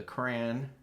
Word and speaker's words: crayon: darker lines with the crayon. The crayon. How do you say crayon? Crayon. Crayon. Crayon. Rhymes with man.